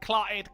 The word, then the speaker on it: clotted: talk normally clotted cream oh so you don't you don't put a glossal Alia in there yeah clotted cream no there's noia there the I didn't say that's it you I did not sound the t's clotted it's like an